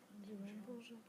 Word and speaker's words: bonjour: Bonjour.